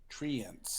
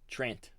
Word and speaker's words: Treant: There should be an extra E if it's Treant. Mm, So you're of the opinion it's Trent? Trent.